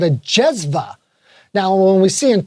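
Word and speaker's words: cezve: copper pot called a jezva. Now, when we see in Turkish, when you see a C, it's actually pronounced like a J. Oh, J. Which is quite interesting, jezva.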